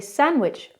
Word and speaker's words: sandwich: We don't really pronounce the D, we say sandwich.